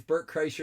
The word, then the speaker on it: Bert Kreischer: look it up and it's Burt Chrysler is how you say his name his dolphin is worse